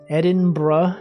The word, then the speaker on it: Edinburgh: Gin and Tonic Day, Mature Women's Day, Name Yourself Day, Unicorn Day, Vimy Ridge Day, Edinburgh Science Festival. You know it's pronounced like bruh. Edinburgh.